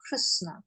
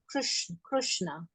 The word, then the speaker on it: Krishna: they call Krishna Krishna some places they call Krishna like especially in um jagat Puri they don't say Krishna they say Kish Krishna Krishna like that so uh so different places they pronounce the lord's names differently like that okay thank you Ma